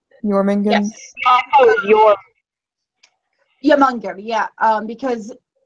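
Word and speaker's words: Jörmungandr: I bet the J is supposed to be like pronounced like a Y. Jormungand.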